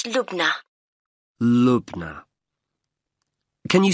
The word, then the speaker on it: Lubna: now I'll just take your details for the booking form can I have your first name yes it's lugna Lubna can you spell that for me l u b n a